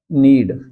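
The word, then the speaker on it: knead: गूंदने के लिए मैंने वर्ड अभी बताया था आपको, नीड। कॉमन के साइलेंट है, इसका एक्सेंट यहां से लेंगे, नीड।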